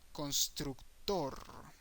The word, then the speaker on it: constructor: exactly the same word however the pronunciation changes to Constructor okay Constructor constructure Constructor so we have actor actor